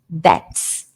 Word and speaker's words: debts: Run up to accumulate debts. Debts. Esse B não é pronunciado. Acumular dívidas. To accumulate debts. Debts, ok? Não pronuncia o B. É igual doubt, dúvida. Tem um B, mas não fala o B.